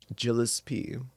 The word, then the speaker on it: Gillespie: Gillespie. Hard G. Like jalapeno poppers, right? Gillipsy.